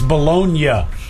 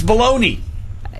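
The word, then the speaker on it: bologna: the thing it is it's bolognia but his kids it's baloney yeah I think I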